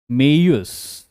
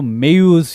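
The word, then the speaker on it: Maues: सबसे पहली चीज, founded by a ruler named Moga or Maius। तो मेयूस या माउस या मोगा अलग अलग नामों से जाना जाता है, अलग अलग लिटरेचर्स और प्रोनाउंसिएशन के हिसाब से।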